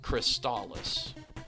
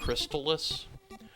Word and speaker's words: Crystalis: is to be trusted, this game is pronounced Crystalis. It is not pronounced Crystalis, but I'm also not